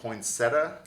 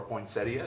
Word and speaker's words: poinsettia: well painted pumpkin seed poinsetta class or poinsettia depending young I guess how you say it where up yeah